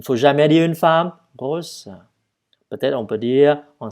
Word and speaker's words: grosse: Avec un S, avec un E, et donc, il faut prononcer vous êtes grosse.